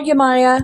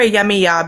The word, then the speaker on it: Yamaya: it's Yamaya, but I call her Yamiya because Oh, okay. It can go both.